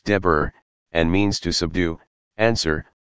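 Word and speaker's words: דֶּבֶר: and the Hebraic word for pestilence is XAC, pronounced Deber, and means to subdue, answer, appoint, bid, command, destroy, say, speak, as a spokesman.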